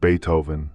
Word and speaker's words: Beethoven: "Is it Beethoven?" she asked once, pronouncing the first part of the composer's name, "Not ba, but be like the insect."